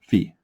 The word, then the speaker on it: phi: It's this letter, in Microsoft Word, but phi, right?